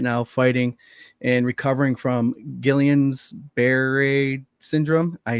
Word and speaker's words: Guillain-Barré: Daniel's currently in the hospital right now, fighting and recovering from Guillain-Barré syndrome.